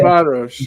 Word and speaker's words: Ferencváros: Ferencváros. Yeah. It's Ferencváros. That's exactly how you pronounce it.